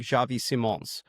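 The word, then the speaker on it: Xavi Simons: So, like Javi Simones. Um, good pronunciation.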